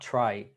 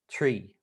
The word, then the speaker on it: tri: So this first word is not, it's not pronounced like it's written here in the transliteration, because it's not try, it's tree.